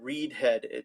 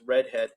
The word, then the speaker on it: redhead: So redhead is not, someone said reedhead. Make sure it's not reedhead, but it's redhead.